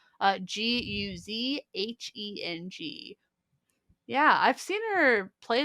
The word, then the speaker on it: Guzheng: the Japanese koto or Chinese goosing. I'm really sorry about that pronunciation. Guzheng.